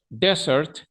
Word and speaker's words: desert: completamente diferentes Desert Desert Desert Desert Desert el acento va como en la primera e the Search va en